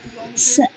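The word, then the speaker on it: fiancé: While Adolphus Cuisines is Major Barbara or Barbara Undershaft's fiance, প্রেমিক, FIANC, উচ্চারণ হচ্ছে ফিয়ান্সে, অনেকে বলে, অনেকে ফিয়ন্সে বলে, ফ্রেঞ্চ ওয়ার্ড, ইট মিনস যে বাগদত্তা, মানে কাউকে কথা দিয়ে রাখা আছে, দ্যাট ইজ ফিয়ন্সে, FIANC।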